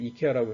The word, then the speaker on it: IKEA: 그래서 이제 요거 세 개하고 마지막으로 이제 말씀드릴 게 뭐냐면, 아까 188개의 그런 편향 중에서 아이케아, 우리나라 사람들이 이케아라고 이제 발음을 하는데, 이케아 효과라는 게 있습니다.